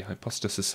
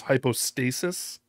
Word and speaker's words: hypostasis: express image of the hypothesis of the father yeah that's another sort of a mispronunciation I think he says hypothesis I think the term is hypostasis I don't know maybe